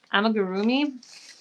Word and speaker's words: amigurumi: Amigurumi.